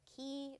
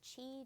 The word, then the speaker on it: ki: has a special feature called um either key or Chi depending on how you want to pronounce that I'm going to say key because it's k-i and it reminds me of key to life shout out girl I